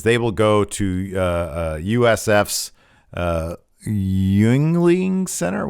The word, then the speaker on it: Yuengling: The expectation, per multiple sources, is they will go to USF's Yuengling Center. How do you pronounce it?